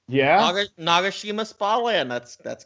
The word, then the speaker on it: Nagashima: I'd probably say either like some of the Japanese parks, like Nagashima Spa Land. I'm sure I'm pronouncing that wrong. Nope, that's actually correct. Yeah, Nagashima Spa Land.